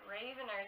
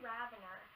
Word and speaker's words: Ravener: 700 but um yeah so I was saying it Raven are this whole time it's really ravanar I don't know Kathy